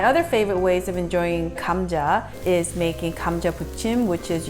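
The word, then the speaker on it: 감자: how to pronounce means potatoes chori means braised kamja is pronounced g h a m Kam cha J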